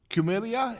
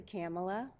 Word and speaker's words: Kamala: And we now have Ms. Cumilia. Did I pronounce that right? It's actually Kamala.